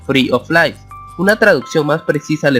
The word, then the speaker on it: free of lice: Esta frase significa, de manera literal, libre de pulgas, el cual se pronuncia free of lice.